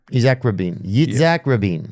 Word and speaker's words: Yitzhak Rabin: I'll spell it for you, okay? Isaac Rabin. Yitzhak Rabin.